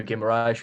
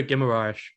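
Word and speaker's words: Guimarães: let's talk about it bruno gimmerash that is how you say it isn't it like um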